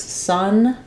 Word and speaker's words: sun: These have the same pronunciation. So letter U and letter O both make the sound in sun.